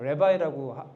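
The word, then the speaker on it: רַבִּי: 우리나라 말로 랍비라고 읽잖아요. 레바이라고 레바이라고 원어를 그렇게 발음하죠. 레바이입니다.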